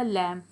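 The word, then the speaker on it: lamb: इसी तरह से यहाँ पर भी लैम, जहाँ भी एम और बी आ जाते हैं तो बी साइलेंट हो जाता है। ठीक है, सो ये भी हो जाएगा लैम।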